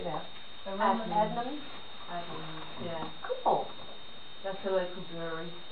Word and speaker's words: Adnams: Adnams.